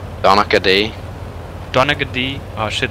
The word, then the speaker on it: Donaghy: Donahue? Donahue? I guess the G is silent kinda, and kinda wiggled in there. Donaghy.